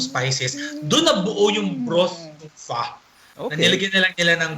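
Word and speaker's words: phở: bigkasin Okay Okay next is yung ah well fa it's actually pronounced as fa Iyung ph o PH h fo It's Fa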